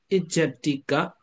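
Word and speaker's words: ajjhattika: Second is the Ijatika Rupa. Yeah, Ajatika Rupa. But the Burmese pronunciation Ijat, yeah, Ijatika, yeah, Ijatika Rupa. But I think international pronunciation is Ajatika Rupa.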